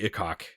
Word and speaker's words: Ikok: Yeah, it sounds a little dirty though, but Ikok.